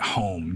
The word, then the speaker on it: Home: I think it's spelled Hume, but I think he pronounced it Home, D.D.